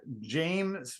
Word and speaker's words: Jayme: Her name is Kat James, but last name is spelled Jayme.